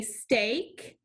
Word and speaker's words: steak: see this card say steak a the key word stake helps us remember the a sound spelled with digraph e a so as a review